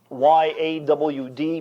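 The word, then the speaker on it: יד: And it's spelled in our English Y-A-W-D, pronounced yawd. Like a southerner would say, I've gone out my backyard.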